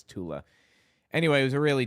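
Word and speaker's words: Thule: He was in the Thu Society, aka the Tula Society, because Germans can't pronounce a th sound. So, it's not the Thu Society, it's Tula.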